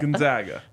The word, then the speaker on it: Gonzaga: in the same region that's how you say it Gonzaga Gonzaga Gonzaga I'm from